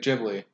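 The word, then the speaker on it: Ghibli: try and call it jibli because that's what they apparently are actually called even though I've called it gibli my whole life right I always do the hard G is M aaki the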